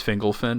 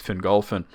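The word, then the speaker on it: Fingolfin: saon a lot uh Matt says fingle fin that's the one that really drives me crazy I let a lot of it go but I'm like fingle is crazy because it's finin we had a discussion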